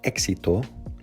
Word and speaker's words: éxito: The word éxito which means success, has the accented vowel on the first letter E. If you pronounce the same word with the accent on the I instead of the E, you better be ready to explain yourself.